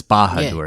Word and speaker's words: Bahadur: So, in 1998, a 17-year-old Nepali boy, Dil Bahadur, which makes me think of Badur, uh, Sauron's fortress in Mordor, but it's Bahadur. It's not spelled the same way.